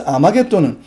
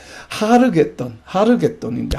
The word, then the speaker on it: 아마겟돈: 자, 여기서 아마겟돈은 히브리어인데 아라고 하는 발음은 지금 아마 이게 헬라어식으로 발음을 해서 이런데 실제로는 하르입니다. 하르겟돈인데 하르라고 하는 것은 무엇인가 하면 산이에요.